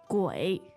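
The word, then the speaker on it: 鬼: in Chinese please Jenny qu gu third tone third tone let's hear it again third tone is always nice let's hear it gu gu not very easy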